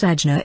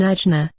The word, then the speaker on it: Ajna: Now we can begin to meditate upon Ajna, pronounced Agni as in agate, the so-called third eye.